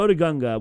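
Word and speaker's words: Otoh Gunga: But what if Jar Jar Binks never got kicked out of Otho Gunga? Gunga? Is that how you say it? I don't know how to say it. Oda Gunga. There you go, Oda Gunga.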